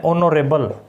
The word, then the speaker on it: honourable: HOUR, आवर, H silent रहता है, ठीक है। इसके अलावा इसमें कुछ और वर्ड्स हैं, ऑनरेबल, HONOURABLE, ठीक है।